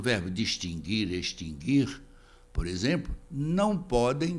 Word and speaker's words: distinguir: distinguir sem trema e distinguir com trema hora a pronúncia do Woody distinguir não tem sentido porque esse verbo não tem o pronunciado basta conjugá-lo no presente